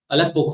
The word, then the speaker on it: Aleppo: So you got the Apello Codex, and then you got the medieval Torah scroll. How come the Apello Codex has the Nikud, the vowel markers, but the medieval Torah scroll doesn't? All right. Aleppo Codex.